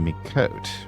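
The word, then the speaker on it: Miqo'te: this is pronounced the Mikot.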